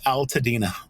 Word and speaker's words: Altadena: community that you're in proper pronunciation Altadena Al Al an Al Bundy Alena yeah yeah so my